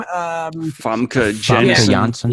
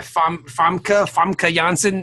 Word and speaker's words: Famke Janssen: How do you pronounce her name? Famke Janssen. Yeah, Famke Janssen.